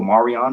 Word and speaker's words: Marian: What's M-A-R? How would you pronounce M-A-R? Would you say mayor? Or would you say mar? You know, like what's ocean? Ocean in Spanish is mar, right? It's mar, right? Like mar. Doesn't it mar?